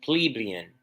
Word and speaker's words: plebeian: and serf so that's how you say it plebeian Guild Master and journeyman in a word oppressor